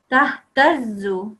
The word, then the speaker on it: تهتزوا: Say it with a sudden sort of connection. Tahtazzu. Don't say tahtazzu. Don't say it softly.